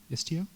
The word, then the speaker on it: Istio: going to deploy the namespace istio istio Accent on the I okay all right so